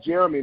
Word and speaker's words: Jheramie: can follow me by my email address uh jeremy now it doesn't look different my mom i